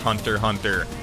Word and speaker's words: Hunter x Hunter: us all the way yes I know it's pronounced hunter hunter if you guys take great issue with that I'll try to switch the way I say it but I just think hunter x hunter sounds epic and Hunter hunter